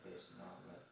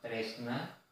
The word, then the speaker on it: tresno: Seperti tadi kata Mbak Dipa, tresno, ada situ bacanya tresno. Kalau bahasanya ini tresno itu jatuh cinta kepada Allah, tapi ini tresno atau tresna kepada sang Khalik.